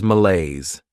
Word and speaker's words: malaise: Next is malaise. This word has 2 syllables, and the stress is on that second syllable.